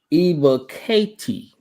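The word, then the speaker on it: Ebiketie: buddy here's the uh official uh pronunciation it's arnold eba katie arnold katie that's what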